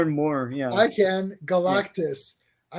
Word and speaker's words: Galactus: I used to say Galactus. Oh yeah. Oh yeah. Yeah, I would say Galactus, and then they said it in the cartoon. I was like, oh shit, I've been saying it wrong the whole time.